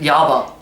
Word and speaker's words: Jabba: But he pronounces it Yabba. Yabba. It's Yabba.